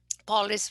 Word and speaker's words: police: Should be polis on the first, with the tonic syllable is the first syllable.